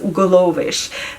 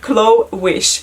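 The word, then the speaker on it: Glowish: going to be called glovish chloe sorry glow wish okay sorry i butchered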